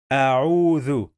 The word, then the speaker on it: أعوذ: Let's check the syllables of the word. In the first syllable we have alif. This is alif with fatha. A. And in the second syllable we have two letters. The first letter is ayn with dhamma. U. A'u. A'u. We have long vowel wow.